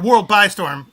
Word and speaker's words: World X Storm: World X Storm, but it is pronounced World X Storm, or World by Storm, like 4x4.